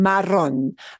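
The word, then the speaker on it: marrón: this word for brown Maron Maron why is there an accent mark on that oh at the end the accent mark does not mean that you change the pronunciation of the letter O all right so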